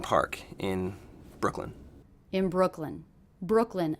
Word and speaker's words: Brooklyn: in Brooklyn in Brooklyn Brooklyn a two-syllable word one of the syllables will be stressed what do you hear as being stressed Brooklyn Brooklyn definitely it's that first syllable Brooke Brooke Brooklyn Brooklyn